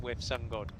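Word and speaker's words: WiV SunGod: It is with Sun God as well, and they did.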